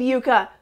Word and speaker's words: Yucca: tortoise did you mention yuka's age and lifespan how did you get that pronunciation Yuka as you instead of yuck best of luck to